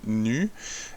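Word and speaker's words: ν: On lit, ça s'écrit comme un V, mais ça se lit nu.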